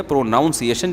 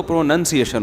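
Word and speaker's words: pronunciation: प्रोनाउन तो ठीक है प्रोनाउंस एशन जब होगा तो प्रोनंसिएशन होता है तो वो हम तो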